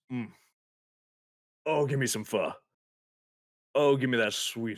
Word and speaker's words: Pho: if anybody's had it it's spelled Pho a lot of people pronounce it foe I love Vietnamese food Vietnamese food is amazing and fur is like the top